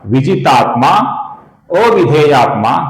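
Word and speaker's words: विजितात्माऽविधेयात्मा: इसे अवग्रह कहते हैं। इसका हम अ की जगह पर लंबाई से उच्चारण करते हैं। तो यहां पर हमें लिखना होगा विजितात्मा अविधेयात्मा, अर्थात विजितात्मा विधेयात्मा।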